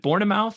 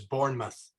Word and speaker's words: Bournemouth: going to be is is it board of mouth is that how you pronounce that very close uh the way I've heard is Bournemouth Bournemouth okay all right uh so like The Bourne Identity right it's spelled like The Bourne Identity right Bournemouth um you may not